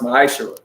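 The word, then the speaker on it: מעשר: It means 10th in Hebrew, and it's pronounced ma'ashara.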